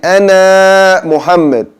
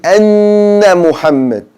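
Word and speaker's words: أَنَّ مُحَمَّدًا: Saying Ana Muhammad, it should be Anna Muhammad. So you will hold the N sound and let the ghunna vibrate in your nose.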